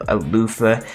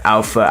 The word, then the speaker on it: Alpha: the mess out of alofa or Alpha the reason why I'm saying alofa because two chapters ago all right in the scans they said that that's how it's pronounced even though it spell Alpha so if I am